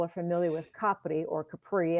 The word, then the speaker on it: Capri: Of course, most people are familiar with Capri or Capri, as the Americans pronounce it. But Ischia is right across the water, and it's actually 4 times the size of Capri.